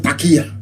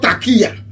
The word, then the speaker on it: taqiyya: There is something in Islam called taqiyya.